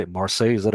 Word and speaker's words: Marseille: Moi, je dis Marseille. On va Marseille. regarder. Although you have a very European French way of Ouais, pronouncing ouais, things.